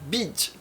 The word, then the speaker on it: BD: Chambers passou a chamá-la de Beloved Disciple, discípula amada, abreviando para as iniciais BD, pronunciadas em inglês como Bid.